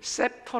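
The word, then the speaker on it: scepter: 성게의 오면 왕의 지팡이 영어로 보면 셉터 라고 발음합니다 sc 를 같이 묶어서 세포 로 발음하는 데 이것은 왕들이 들고 다니는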